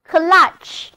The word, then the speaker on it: clutch: 那么很显然 ,under control 就是使什么东西处于控制之下。Control 有一个近义词，我们这里不妨认识一下 ,clutch, C-L-U-T-C-H, clutch, 字母 U 发啊的短音，单词就读作 clutch。